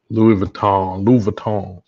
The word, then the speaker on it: Louis Vuitton: Louis Vuitton. You gotta get the pronunciation right.